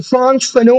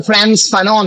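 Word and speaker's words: Frantz Fanon: great French অ্যাংলো carry Caribbean ফ্রান্স ফানো অনেকে ফ্রান্স ফ্যানো বলে ফ্রান্স ফানো যদিও মানে উচ্চারণটা ফ্রান্স ফানন স্পেলিংটা কিন্তু একচুয়াল উচ্চারণ হচ্ছে ফ্রান্স ফানো ফানো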